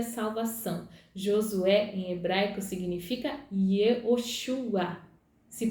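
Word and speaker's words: יְהוֹשֻׁעַ: Josué em hebraico significa Yehoshua. Se pronuncia Yehoshua.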